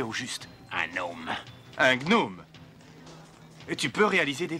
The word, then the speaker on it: gnome: saurais que le j'ai donc nos hommes se prononce on dit gnome d'accord ou pas d'accord il joue pas avec